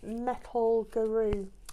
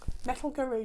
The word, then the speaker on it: Metal Guru: B's Yarns, and it's this Metal Guru. Metal Guru. Does everyone say that? Metal Guru. I always say it like the song, Metal Guru.